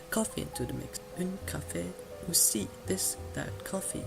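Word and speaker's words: café: not be pronounced but an E with either a grave accent or an acute accent will both be pronounced at the end of the word you now know the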